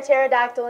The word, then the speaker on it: pterodactyl: like a blast hey why can't you hear a pterodactyl in the bathroom because the P is silent it's with your buck